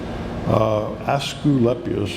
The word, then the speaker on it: Asclepius: Asclepius, in British would say Asclepius. They like to put in extra syllables, or we like to take them out, whatever.